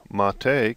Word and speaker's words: mate: the bottom and it says the name mate pronounced mate comes from the Yerba mate a species of